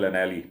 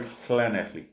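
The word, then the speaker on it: Llanelli: अगर इंग्लिश में उसको प्रोनाउंस करें तो बनता है लनैली, LANE, बट in Welsh they call it खनैखली।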